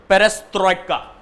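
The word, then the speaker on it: перестройка: चबाकर बोलोगे ना तो ज्यादा अच्छे से आएगा पेरेस्ट्रोइका, राइट, वो ज्यादा बेटर प्रोनाउंसिएशन है.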